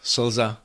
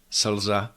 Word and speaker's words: slza: You will find l in the function of a syllabic consonant in longer words like mlha, mlha, that's fog, or slza, slza, that's tear. The principles here of pronunciation are exactly the same as what we talked about before. All these consonants have to be short and clear.